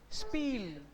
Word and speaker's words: Spiel: Spiel. Spiel. Spiel. I-E is E. Yes, sir. I-E, right? In last slide I will show. S-P is P, I-E is E. So spiel.